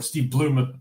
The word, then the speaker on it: Steve Blum: as Wolverine would be Steve Blum. Or Steve Bloom. I'm pretty sure it's pronounced Steve Bloom.